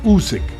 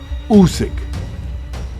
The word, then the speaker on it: Usyk: We have one heavyweight champ of the world, and his name's not that hard to pronounce. Even Teddy Atlas might get it right. Usyk. Usyk. Usyk.